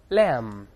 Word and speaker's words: lamb: 才说了 b 不发音的 lamb，后面这是小山羊，